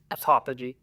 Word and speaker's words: autophagy: Do you know how to pronounce it? Autophagy.